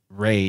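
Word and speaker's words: rey: in your chat that Spanish Ray is actually spelled re y not r a y but same pronunciation so like a good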